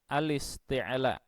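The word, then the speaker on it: الاستعلاء: Mohon dicamkan benar cara membacanya, bukan al-isti'la tetapi al-isti'la. Bukan al-istifal tetapi al-istifal.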